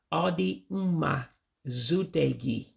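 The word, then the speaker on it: Ọ dị mma ịzute gị: But again, you're dropping some vowels or some things you do in Igbo where you have to drop some letters, you don't pronounce them. So again, let me say that again. So the Central Igbo way of saying nice to meet you would be Odi Uma Zutegi.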